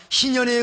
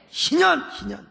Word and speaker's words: 희년: 근데 우리는 여러분 매일매일 순간순간마다 희년의 은혜를 누리게 되는 것입니다. 맛보기가 아닙니다. 진짜 백이라 이 말입니다. 여러분 희년. 여러분 발음을 잘못하면 인연이 됩니다. 여러분 인연이 아닙니다. 희년이요. 희년.